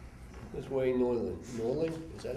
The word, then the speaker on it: Norling: Norling, is that how you say it?